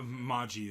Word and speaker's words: Mage: daughter made Maggie's birthday I want to pronounce it made but I know if ma ji is how they were Sunday in the show but it's spelled mage it is it spelled mage but they say ma ji yeah after the